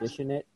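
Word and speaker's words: Dishin' It: Is it Dish It or Dishing It? It's Dishing It. It's an apostrophe IT, no G.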